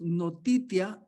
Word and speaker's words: notitia: Noticia, así como lo pronunciaba él en inglés, ¿va? Noticia, ascensus and fiducia. Lo diríamos nosotros, notitia, ascensus y fiducia.